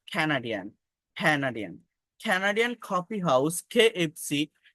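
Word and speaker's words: Canadian: দেখেন এটাকে কানাডিয়ান বলি আমরা, বাট ক্যানাডিয়ান, ক্যানাডিয়ান, ক্যানাডিয়ান coffee house KFC campaign for chocolate cake in Cambodia.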